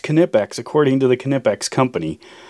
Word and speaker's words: Knipex: is the difference between the canipax which is pronounced canetbacks according to the knipex company every time i do one of the videos some people say it's actually nipax i i used to think it was nip